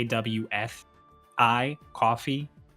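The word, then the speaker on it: Ko-fi: It's spelled like spelled like K A WF I coffee spelled like K O FI.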